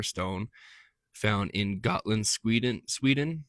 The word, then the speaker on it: Gotland: Kylver stone, k y l v e r stone, found in Gotland, Sweden Sweden or Goatland, Sweden. Uh it's it's like a it's spelled like the Got Milk commercial, but Gotland.